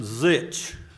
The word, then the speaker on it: Zitch: Water Planning District, and she always reminds me how to say her name. So it's Catherine Zitch. She reminds me what it sounds kind of like, but it's Zitch.